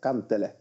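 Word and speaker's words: Kantele: And to say it with a little Finnish pronunciation, it's Marco Cantele.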